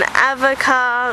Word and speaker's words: Avoca: So, we also went to this place called Evoka, and it's spelled like avocado without the dough. So, we all thought it was pronounced avoca, but it wasn't. It's a voca.